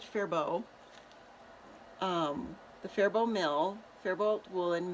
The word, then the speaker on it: Faribault: town in southern Minnesota fairbault FA RI ba ult and they pronounced it fair bow the faribault mill Faribault